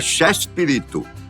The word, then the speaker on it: Chespirito: grande escritor britânico Shakespeare a pronúncia espanhol com o diminutivo ficava Chespirito que com o tempo